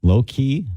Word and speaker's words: Loci: It's spelled Loci. Low key?